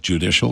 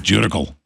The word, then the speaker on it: judicial: Clive and Bundy mispronounces judicial. He calls it judical.